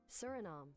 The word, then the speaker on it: Suriname: Suriname. Okay, I'm pronouncing it correctly.